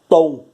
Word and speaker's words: tombo: Qual é a mais forte? Tombo. O tom é o mais forte.